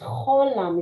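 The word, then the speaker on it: חולם: Cholam. Cholam. Mhm. But it's just the H sound and not the phlegmy H. It's an O sound. No, the name of the How? No, it's a CH. It's cholam.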